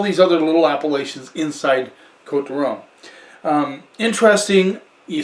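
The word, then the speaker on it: Côtes du Rhône: other little appellations inside quote the rome um interesting you say code toronto time now some people there's an s in there c-o-t-e-s d-u and then rome you don't pronounce yes i have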